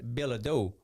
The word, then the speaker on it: Ledoux: Because in Eunice, you know, you got Ledoux, and we don't pronounce them Ledoux.